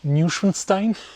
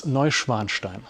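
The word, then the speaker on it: Neuschwanstein: You don't pronounce it ninstein. It's Novanstein.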